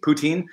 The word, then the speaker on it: poutine: to poutine Oh poutine it's like p oo t een phonetically poutine uhm wait wait for